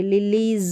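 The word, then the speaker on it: lilies: और ये लास्ट में है, एस को ज भी पढ़ते हैं जैसे मैंने बोला, और स भी पढ़ा जाएगा, तो ल ई ज, लिलीज। लिलीज नहीं बोलेंगे, लिलीज, ज का उच्चारण रहेगा एस के लिए।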